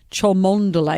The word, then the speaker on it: Cholmondeley: But it's pronounced Cholmondeley. It's so English.